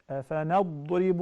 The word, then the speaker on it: أَفَنَضْرِبُ: So we have to pronounce the Ra very thin. Reem. So in this case you will say أَفَنَضْرِي أَفَنَضْرِي أَفَنَضْرِبُ عَنْكُمُ الذِّكْرَى.